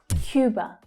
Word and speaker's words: Cuba: Cuba, Cuba. So remember, this is the English pronunciation of this word. So it's not Cuba, but Cuba, Cuba. Notice the Y sound that's included.